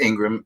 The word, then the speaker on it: Ingraham: that people understand that your last name is spelled i-n-g-r-a-h-a-m as ingram and so well listen